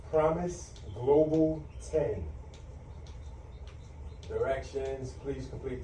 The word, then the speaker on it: PROMIS: So it's Promise Global 10.